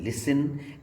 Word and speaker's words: listen: बाद आता है, जैसे कि OFTEN often, LISTEN लिसन, FASTEN फसन, SOFTEN सॉफन। T silent हुआ करता है लेटर सी से, सी